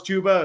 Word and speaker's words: Chuba: It's like saying you think Chuba Hubbard is pronounced Chubba Hubbard, and Oh, then when yeah. I found out it was Chuba, it was the saddest day of my life.